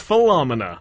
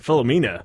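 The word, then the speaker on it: Philomena: film at number three it's fomina or filamina if you want to pronounce it correctly yeah I would actually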